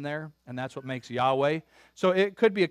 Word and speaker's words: Yahweh: it yahoo uh but we don't know exactly how it is pronounced but Yahweh is our best guess now the English way to pronounce that anybody know Jehovah Jehovah that's the English